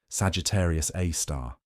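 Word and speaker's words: Sagittarius A*: own Milky Way galaxy called Sagittarius A, pronounced Sagittarius A star.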